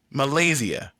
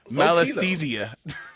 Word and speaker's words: Malassezia: the middle of it, the first syllable being mal, literally meaning bad or evil.